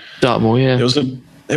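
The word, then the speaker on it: Dartmoor: I think it's Dart is it do I pronounce it correctly dartmore yeah it was a it was a bloke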